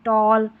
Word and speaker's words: tall: और भी है, और भी है, जैसे TALL है, इसमें टॉल, पढ़ेंगे, ए को ओ वाला ये उच्चारण होगा।